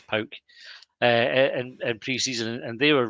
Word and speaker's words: PAOK: But we played Pauk or PAOK, depending on how you say it. I'm told it's Pauk.